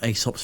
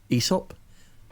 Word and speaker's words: Aesop: Aesop? Aesop. Yes, it's Aesop, because Greek, you pronounce the second vowel in those... in a vowel couplet, you always pronounce the second one as like a hard E.